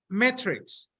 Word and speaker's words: metrics: Metrics. Metrics. Metrics, yes, metrics. Like the movie. Like the movie, exactly.